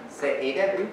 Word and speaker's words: Seediq: Three syllables. I'm overemphasizing the final. Which is the stressed syllable, the main stress in the word? There's one main stress in every word in the language. Say it. Well, I've given you body language to help. So the second syllable, the penultimate syllable, the second last syllable is always stressed.